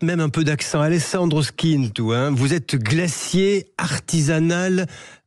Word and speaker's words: Schintu: Bonjour à vous, Alessandro Skintu. Est-ce que je le prononce bien ? Oui, bonjour à vous. Bien sûr, vous le prononcez parfaitement. Merci. Je vais mettre même un peu d'accent. Alessandro Skintu, vous êtes glacier artisanal à La Ciotat, dans